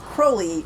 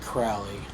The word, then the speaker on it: Crowley: like a catchphrase almost remember kids Crowley rhymes with holy that's right not Crowley not Crowley although I do love